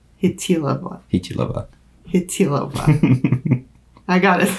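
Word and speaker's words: Chytilová: Vera Chitlova Hilova. It's a soft T. Yeah. Hitilova.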